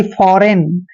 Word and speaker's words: foreign: और EIGN का उच्चारण इन करते हैं, यानी कि फॉरेन, ऐसे फॉरेन।